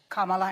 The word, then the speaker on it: Kamala: Kamala, and I'm calling you Kamala because for all of those who are mispronouncing it, I want you all to know how to say it.